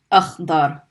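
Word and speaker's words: أخضر: You have Alif Hamza with a fatha. We're going to pronounce a. Stop on the kha because there's a sukun. Akh. Dad fatha. Da. And stop on the ra because it doesn't have any. Akhdar. Akhdar.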